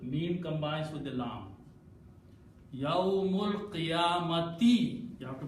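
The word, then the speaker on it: يوم القيامة: As soon as we don't pronounce the sound of alif, we take this hamza, change by little swad there, and pronounce as yawmul. Mim combines with the lam. Yawmul qiyamati.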